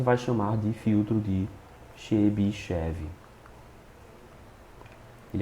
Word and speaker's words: Chebyshev: chamar de filtro de Chebyshev. Ele é um russo, o nome dele se escreve com T, mas em português a gente convencionou a não colocar o T e chamar de Chebyshev.